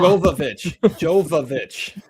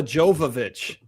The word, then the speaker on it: Jovovich: you already mispronounced one, Todd. Yeah, Mark it. we got a What did I say wrong? Jovovich, Mila Jovovich.